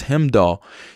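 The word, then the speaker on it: Heimdall: as him doll or I've been saying it wrong it's him doll you fight you met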